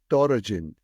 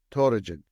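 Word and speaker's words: Töregene: who oversaw that just her name dorin which is e and D are the same in Mongolian but usually we spell it t o r e g n e toin but uh she had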